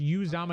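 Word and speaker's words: Uzomah: announcers It's say pronounced. Usamoah. No, it's pronounced Uzama.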